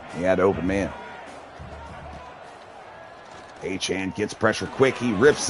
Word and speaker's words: Etienne: Yeah, I had no idea that Travis Etienne, or you know, as everyone called him Etienne, that's really Achane, is how you pronounce his name.